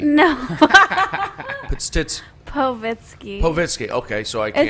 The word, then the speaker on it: Povitsky: I can't pronounce her last name yet. I have a stumbling block. So you can try. Potitsky. No. Povitsky. Okay, so I can't. It's pretty easy. Povitsky.